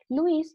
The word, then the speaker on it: Lewis: de enlace viene la estructura de lewis o de louis que en realidad es la pronunciación louis lo que hizo fue dar